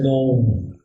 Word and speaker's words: Nome: En inglés se pronuncia Nome y se escribe Nome.